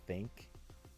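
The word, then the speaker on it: ThinQ: Q 5G and yes I know it's it's supposed to be pronounced think but no it's the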